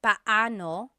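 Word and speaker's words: paano: It's technically pano. Pano. When there are two vocab or when there are two vowels together, you say them separately.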